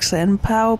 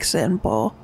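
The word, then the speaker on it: Senpou: You keep pronouncing it like Senpao, but it's like Senpo. Senpo. Yeah. Okay. Same with Kyobu. The OU is just O. So Senpo.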